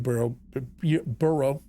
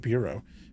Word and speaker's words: Burrow: Burrow, I said it right the first time, I almost said Bureau, beneath his tractor.